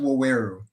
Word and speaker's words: Waweru: It's pronounced Waweru. So okay, and I'm gonna. It's pretty phonetic, just Waweru.